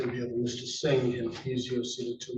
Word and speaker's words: Singh: name would be Kwarin, last name would be Singh. Singh. I'm sorry for that. Apparently this council Joanne Carey for the people. Thank you. We have the murder in the death of Mr. Singh and he's your seated to my right as